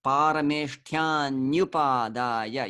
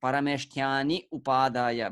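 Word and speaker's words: परमेष्ठ्यन्युपादाय: And actually in the verses, parameshtyanyupadaya, you don't stop here at this syllable. Very often I see people reading such ya at the end of a word, and they parameshtyani upadaya, but it's you can't stop here. You just keep on reading. Parameshtyanyupadaya. So the syllable is new. It's not ni and u, it's new. Like that.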